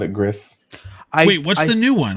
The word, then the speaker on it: Gris: I would say Gris just because of my Spanish background. And that would be correct.